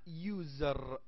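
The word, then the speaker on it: user: نعم لانه لانه لانه يوزر تلفظ ي يوز يوزر زر لاحظ ان الصوت يبدا وكانه واي ليس يو يوزر كانه واي هيك تلفظ يزر هذ طريقه اللفظ اذا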